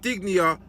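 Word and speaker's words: Digne: OE Watkins ran into the box free and digia that's how you pronounced his name put the ball on a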